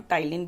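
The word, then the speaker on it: ptyalin: Amylase भी कहते हैं, उसका दूसरा नाम टाइलिन भी होता है, पी साइलेंट होता है उसमें, ठीक है।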